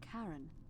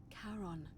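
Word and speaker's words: Charon: coin just as you described it only your pronunciation is a little off the name you heard wasn't Karen it was c h a r o n as in Caron the ferryman of the Dead coin helps The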